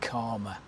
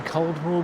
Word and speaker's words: Caldmore: to the area uh you would probably be saying Cold War green but uh many here who live here will inform you that it is in